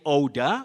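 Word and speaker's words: odour: You say odor for O-D-O-U-R. That is the unpleasant smell. Odor, odor, O-D-O-U-R. That's slight vowel glide, O, odor.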